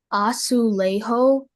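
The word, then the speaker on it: azulejo: Your word is aulejo, aulejo, aulejo. All the information, please. Okay, so the pronunciations are aulejo. Aulejo or aulejo.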